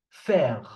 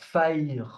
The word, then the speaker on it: faire: The E at the end of words is just there to make you pronounce the consonant that is before.